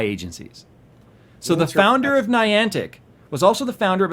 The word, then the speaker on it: Niantic: So, Niantic, is that how you pronounce the company? Niantic.